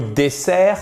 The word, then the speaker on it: dessert: Donc, dessert, c'est dessert. Dessert, accentuation ici, le E se prononce comme un I court. Et là, le E se prononce comme un E. Et vous avez l'accentuation sur la première syllabe.